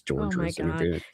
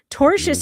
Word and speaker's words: torturous: It's torturous. She It's even spelled wrong in the um in the transcript because that is how she pronounced it. Torchous and torturous are two different words.